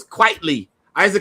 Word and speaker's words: Frank Quitly: I used to call him Quietly, Quiddly, you know. I I I didn't know how to pronounce this fool's name. And he was like, "No, it's Quietly." It's like, you know, quite frankly, but Frank Quitly.